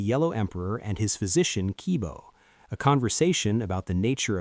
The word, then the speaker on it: qi: Pronounced qi, qi is the vital life